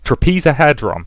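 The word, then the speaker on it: Trapezohedron: I know how to pronounce this word. Trapezahedron, thank you.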